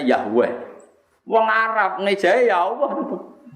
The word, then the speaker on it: Yahweh: huruf kapital, E dengan huruf kapital, H dengan bacanya Yahweh.